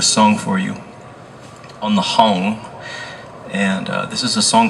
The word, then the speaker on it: hang: So this instrument that I played with him is called a hung, H-A-N-G. spelled like hang but pronounced hung.